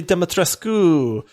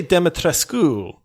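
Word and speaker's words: Dimitrescu: And so she actually pronounced the U. Now, she said it with a heavy accent, but she would say, oh, yes, Lady Demetrescu.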